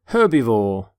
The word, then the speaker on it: herbivore: By the way, you pronounce the H in the word herbivore.